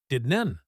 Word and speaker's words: didn't: Didn't the T is usually stopped. Did nen. We almost did n come.